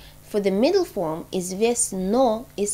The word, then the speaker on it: известно: известна for women, and известно for middle. So notice that известна and известна for middle and female, they are pronounced very similarly. But the spelling is different. For the middle form, известно is spelled with an O.